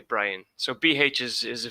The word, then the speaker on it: Brian: Brian is Irish.